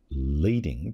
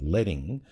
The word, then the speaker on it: leading: see it looks like leading but it's pronounced letting after the strips of lead it used to be between the old rows of tight now speaking